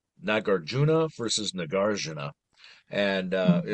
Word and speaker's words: Nagarjuna: I probably say like nagarjuna versus nagarana and uh you know it's like a hard or soft J but I'm just hearing